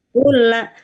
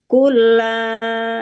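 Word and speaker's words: كلا: Kulla, tapi membacanya tidak dengan gunnah ya, walaupun idgham. Kulla ya satu ketuk aja.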